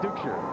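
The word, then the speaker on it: Duchscherer: Dukeshire.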